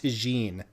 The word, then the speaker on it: Tiguan: asked a guy and he said it's pronounced tagine that's spelled tiguan so i don't know why